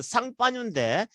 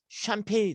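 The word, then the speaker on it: Champagne: 자, 저게 프랑스 지방, 프랑스 발음은 쌍파뉴인데 영어식 발음하면은 샴페인이 되는 겁니다.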